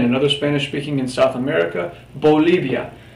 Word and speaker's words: Bolivia: Again, another Spanish-speaking in South America, Bolivia. Really important to note that both of these letters here, the B and the V, the B and V in Espanol, are pronounced exactly the same.